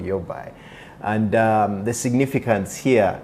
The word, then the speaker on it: Yaobai: Uh I'm I'm glad that you're not mentioning it as Yao Bai or Yo Bai because most most people have to be corrected uh that A is silent in Chinese, so it despite the